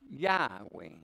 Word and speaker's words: Yahweh: YHWH, four consonants, cannot be pronounced that way, but you added the A of Adam and the E of Eve, you can pronounce Yahweh.